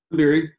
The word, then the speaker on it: Dabiri: Dabiri, is that how you pronounce it? Dabiri, yeah, that's fine.